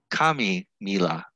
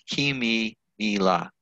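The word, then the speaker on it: kimímila: to text it kimmy it's kami mila no it's k p k e even though it's spelled with an i okay it's kimi nila yes okay so uh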